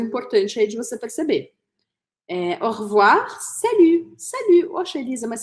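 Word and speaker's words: au revoir: rir revoir E aí curiosidade também é que essa letra e ela praticamente desaparece da pronúncia E aí eu vou falar revoir Ok então eu vou cortar esse ess Então você vai usar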